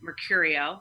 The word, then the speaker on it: Mercurio: So then Mercurio, like Mercury, Mercurio.